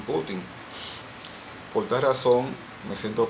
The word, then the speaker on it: Putin: De igual forma también he escuchado a analistas internacionales cuando se refiere al residente Vladimir Putin pronunciar Vladimir Putín. Yo lo he escuchado, Vladimir Putín y siempre de este lado del occidente como se pronuncia es Vladimir Putin.